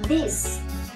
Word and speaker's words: this: rít đúng không ạ Người n ngoài thì đọc là this that mình thì là cứ rí giá rí